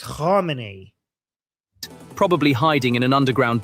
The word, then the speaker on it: Khamenei: So I know he cannot say the kh sound, but he shouldn't say Khomeini. He should say, like in his pronunciation, he should say Khamenei.